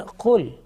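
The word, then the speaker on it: قل: similar sounding letters, and certain letters are pronounced with thick sound and also some with thin sound. You can see the example now here, the kul, and the second one is qul.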